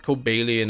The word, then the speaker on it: Cobalion: your friend pronounces it I'm pretty sure his cobalian is how it said I could consult a good book just to be sure but I think kobalian is how it's pronounced I know some people